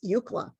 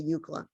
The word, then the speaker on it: UCLA: then people called ucla eucla which is a true acronym um we're pronouncing the u like the pronunciation of the letter u that's why i wrote